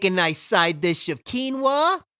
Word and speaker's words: quinoa: Make a nice side dish of quinoa, or if you like to pronounce it quinoa, make some of that.